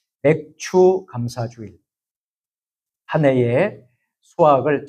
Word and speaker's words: 맥추: 하지만 이제 맥추 감사절 그래서 발음을 참 잘해야 됩니다. 맥추 감사 주일입니다. 맥주 감사 주일이 아니고 예 오해를 하시는 분이 있어요. 예. 아, 맥주 감사 주일이니까 맥주를 주시나? 예. 아닙니다. 예. 맥추 감사주일.